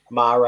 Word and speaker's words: mare: We'll have a bit of a chat about the most famous sea, or Mare. I said it right, Steve. Are you proud? Well done. you can call them mares if you want to.